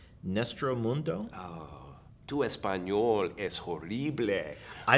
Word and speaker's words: Nuestro Mundo: Tell me about, and tell me if I'm pronouncing this correctly, Nuestro Mundo? Tu español es horrible. I don't speak German. But so I don't know what you just said. It's Nuestro Mundo.